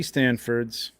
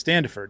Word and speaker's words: Standiford: comments to win Dusty Stanford's stand-up is it Standiford am I standing right it's Standiford yeah I've been pronouncing it wrong Dusty I apologize um